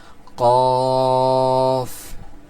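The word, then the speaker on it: قاف: এটার উচ্চারণের মাখরাজটা বলা হচ্ছে জিহ্বার গোড়া তার বরাবর উপরের তালুর সঙ্গে লাগাইয়া। জিবার্বার গোড়ার উপরের তালুর সঙ্গে লাগায়া উচ্চারণ হবে কি? ক। দেখেন আমাদের কিন্তু উচ্চারণটা ঠিক সেখান থেকে হচ্ছে।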